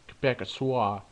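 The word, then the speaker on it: Québécois: Sorry, but it's supposed to be pronounced Quebecois, but no, the damn common quarters.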